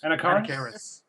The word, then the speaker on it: Anakaris: Anarakis? Anakaris. It's 3 different pronunciations, but they all count, I guess.